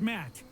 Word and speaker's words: Matt: not an inch less the name's matt the second t is silent sure sounds like an